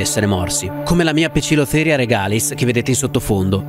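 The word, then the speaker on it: Poecilotheria: vedete in sottofondo e Sì questo è il modo corretto di pronunciare il nome in latino di questo ragno cerchiamo di normalizzare la pronuncia Latina Vi prego i dittonghi a e e o e in latino si pronunciano e alcune tarantole però sono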